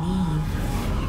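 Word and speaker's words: Niamh: here in this place you may call me Neeve Neeve I thought I was pronouncing it right you shall be witness to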